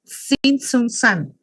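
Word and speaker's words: Tzintzuntzan: Sinsun sunan, como que la tecasí no se pronuncia, sinunan.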